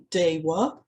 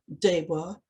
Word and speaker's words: Deva: I should mention at this point that the letter V, as written in English and pronounced in English, is normally pronounced as a W in Sanskrit. So for instance, words such as Veda, Deva, and hence Devanagari have their V's pronounced as W's in Sanskrit.